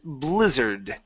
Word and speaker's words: blizzard: our last one is Blizzard okay a BL sound boo Blizzard lizard good job so there